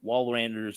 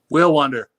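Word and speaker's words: Walewander: remember the jimmy jim wallranders of the world who was a am i i totally butchered his name didn't i will wander will wander thank you they remember that they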